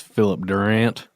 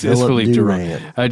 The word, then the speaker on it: Philippe Durand: I think it's Philip Durant. It's Philip. I'm just joking. It's Philippe Durand.